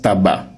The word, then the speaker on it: tabac: Donc le C ici il ne se prononce pas, il ne sait à rien.